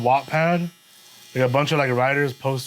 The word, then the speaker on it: Wattpad: do you say it Wattpad Wattpad so it's w-a-t-t-p-a-d Wattpad Wattpad like a gigawatt exactly exactly my guy